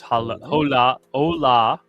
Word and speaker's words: Hola: Says, hola. I was going to get it eventually. Manuel. Hola. H is silent.